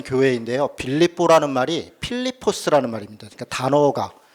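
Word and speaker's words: Φίλιπποι: 퍼스 라고 발음합니다 그런데 우리만 이제 그 한자 발음으로 그냥 하는 거죠 그래서 실제 는 필리포스 라고 하는 어 지역 이구요 지금도 있습니다 지금도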